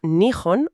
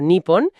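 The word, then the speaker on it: 日本: En la infografía aparece la palabra nun o nipon. que son las dos formas correctas y oficiales de decir Japón en su propio idioma.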